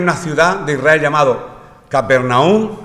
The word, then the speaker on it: Capernaum: Esto ocurrió en una ciudad de Israel llamado Capernaum. Allí en Israel le dicen Cafarnaum. Bueno, se ve que en su idioma pues se pronuncia así, Capernaum.